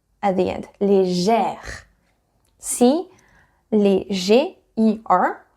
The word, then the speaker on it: légère: Légère. See? Léger, E-R. So you don't need any accent because it is E. Légère, to have that sound E, very open.